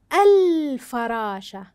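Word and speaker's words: الفراشة: فراشه عند اضافه ال كيف تنطق ال الفراشه هل اتضحت بالنطق ممتاز اذا ال ال ما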